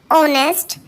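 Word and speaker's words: honest: होता है, जैसे एन ऑनेस्ट, एन आर, N hotel, an honour. अब इन सभी वर्ड्स में स्टार्ट एच से किया जा रहा है लेकिन एच साइलेंट है यानी है साइलेंट है।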